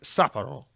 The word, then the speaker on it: Sapporo: Sega Sapporo, it's pronounced Sapporo.